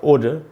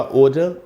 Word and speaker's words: odour: अगर यही वर्ड आपको अमेरिकन इंग्लिश में लिखना है तो आपको ये यू हटा देना चाहिए, ODOR, ओडर। उच्चारण ब्रिटिश इंग्लिश में होगा ओडर और अमेरिकन में होगा ओडर।